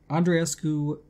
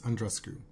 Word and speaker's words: Andreescu: You're just intent on not pronouncing her name the way Bianca wants it pronounced, right? You're like, I am going to pronounce both those E's.